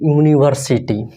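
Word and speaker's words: university: इसका हिंदी उच्चारण क्या है, यूनिवर्सिटी। इसका पहला अक्षर क्या है, य है, क्या है, य है, क्या है, य। इसका साउंड क्या होगा, य होगा, ठीक है।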